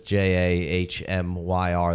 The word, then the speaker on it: Jahmyr: Can't even pronounce the guy's name right. I know. You know, that's J A H M Y R. That really throws me off there.